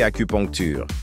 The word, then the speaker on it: acupuncture: Assure-toi de prononcer acupuncture. Répète après moi, acu. Poncture. Acupuncture, c'est ça, le bon son.